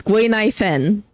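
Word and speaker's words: Guinaifen: at this name, Rhythm, if you never heard the pronunciation of her name, you would be struggling. From my knowledge of the way that you pronounce words, you would be struggling. But it's Gwei Nai Fen, which is a nice name.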